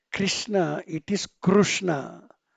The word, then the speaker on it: Krishna: It is Krishna, it's not Krishna, It is actually Krishna, but Krishna being the supreme person, and we often take his names.